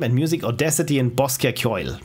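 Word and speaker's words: Ceoil: There are graphics with GIMP and music, Audacity and Bosca Kyoil. Pronounced Kyoil. Seriously? I've always thought it's Kyoil. But what do I know?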